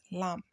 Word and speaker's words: lamb: is pronounced as what lamb the B is silent so the only word